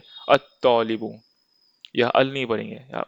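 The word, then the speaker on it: الطالب: जैसे यहाँ पढ़ेंगे अल मुदर्रिसु, अल बाबू, पर यह हम बोलेंगे अत्तौलिबु, यह अल नहीं पढ़ेंगे, यह बोलेंगे अत्तौलिबु।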